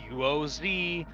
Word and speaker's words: Qoz: this name okay guys it sounds like it but it's not it's spelled with a Q it's qoz but cause the slumbering hermit